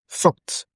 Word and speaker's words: thought: Now, the word that is underlined is what? ought. And that is aw sound. There is a sound in English we call the aw sound. That is what it is showing in this thought. aw aw aw.